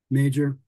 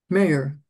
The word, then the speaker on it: Mager: Major. Hang on. Mijlin. Yep. Yep. Muscat. Rogers. Smith. Okay. And Pat? I did Churchill, Mijlin, yep. Kubiak, Rogers, Hines, Muscat, LeBlanc, and Mager. Mayer. Major. It's pronounced major.